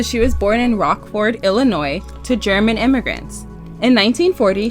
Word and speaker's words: Illinois: down my throat so Illinois what did they say they were like the S is silent I was like I'm